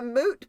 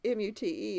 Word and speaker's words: moot: A moot point, M-U-T-E, instead of a moot point, M-O-O-T. It's actually supposed to be M-O-O-T. Moot, not mute. Now, I think I say a mute.